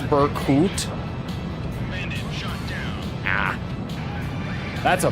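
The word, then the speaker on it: Berkut: It's pronounced Burkut. Ah. That's a Burkett.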